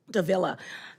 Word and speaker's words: Davila: I have another question for Representative Davila. Am I pronouncing your name correctly? Yes, you have it, just Okay. like vanilla.